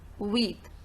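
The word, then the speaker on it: huit: Okay, now if we talk about number 8, with, it is normally pronounced with, and with enfant, here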